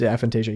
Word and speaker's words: aphantasia: No, like the seeing images aphantasia. Yeah, it's cool. Aphantasia. Uh four syllable word that you could pull out at parties and people get stay away from you.